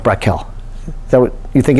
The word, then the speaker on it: becquerel: Yeah, I think it's pronounced Brackel.